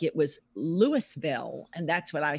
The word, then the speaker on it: Louisville: just moved here they said it's Louisville Louisville like Elvis well thank you very